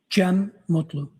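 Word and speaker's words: Cem Mutlu: Jim Mutlu.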